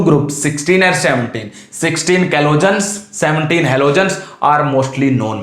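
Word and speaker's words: chalcogens: ठीक है, ये जो ऑक्सीजन है इनको एक और नाम देते हैं ऑक्सीजन फैमिली को, काल्कोजेंस या कैलोजेंस भी नाम देते हैं। सी साइलेंट मान लो, इसमें कैलोजेंस इनको नाम दिया जाता है।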